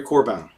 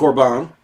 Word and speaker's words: Corbin: French philosopher and theologian Henry Corbin I'm assuming that's how you pronounce it I'm French has deteriorated since high school its CEO RBI in Corbin I'm assuming wait this is on enric or bong it's written by Tom